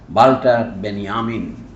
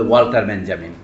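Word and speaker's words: Walter Benjamin: অনেকের নাম অনেকের নেই একজন ছিল বাল্টার বেনিয়ামিন ইংরেজিতে বলে ওয়াল্টার বেঞজামিন আরেকজন নাম লুকাস উনি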